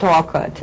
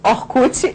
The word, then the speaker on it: Orkut: And in Brazil we say Orkut instead of Orkut. I mean, it's like we adapt the way we pronounce it.